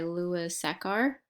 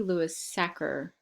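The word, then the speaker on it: Sachar: be reading holes by Lewis a car I think I might be saying his last name wrong might be Lewis sacker but either way let's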